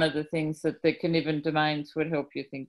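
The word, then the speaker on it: Cynefin: is familiar but right now so please it's pronounced can even okay and chaos is the fourth of the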